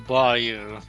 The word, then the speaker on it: bayou: Anyway, first level, barrel bayou. Bayou, not bayou. Nobody pronounces it as bayou. If you pronounce it as bayou, you're ridiculous.